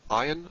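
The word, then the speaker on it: ayin: sing something like this iron like the aleph is a silent letter some will pronounce it as a deep guttural letter aw i don't maintain that distinction it's too difficult for me iron after iron we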